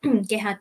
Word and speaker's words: Gehad: a d in Lon is my name Gad well I say Gad because I spell it with a G right I know I know